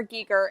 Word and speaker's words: Giger: the harkonnen yeah and so his name is pronounced hr geeker and i have it embedded in my brain